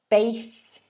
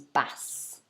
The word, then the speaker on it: bass: again let's have a look at the two pronunciations so the first one bass our second one is bass bass bass okay spelling is exactly the same